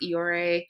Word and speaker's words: Iyore: Yeah, and it's Iyore.